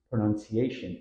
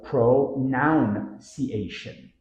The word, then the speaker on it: pronunciation: pattern Pro none see a ironically many Learners pronounce pronunciation incorrectly adding an extra o after none sounding like pronounciation common error pronounciation tip focus on the nun